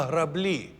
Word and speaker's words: граблі: ні на що дуже правильно наголос на граблі наголос на другій склад а зайчик дивимося одне